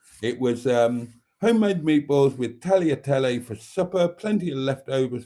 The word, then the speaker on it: tagliatelle: beef and pork with tagliatelle, or tagliatelle, I suppose. I shouldn't pronounce the G, should I, as it's Italian. So it was homemade meatballs with tagliatelle for supper, plenty of